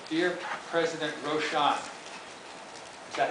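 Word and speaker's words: Rochon: The letter says, "Dear President Roshan," is that how you pronounce it? Roshan. Roshan? Roshan, yeah.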